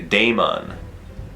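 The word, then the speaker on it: Daemons: actually should be pronoun it actually should be Damon well can you think of a AE word that is pronounced a I can't think of any other AE words really I like to say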